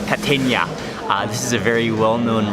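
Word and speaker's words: Kategna: It's called, you pronounce it Catenia. Catenia.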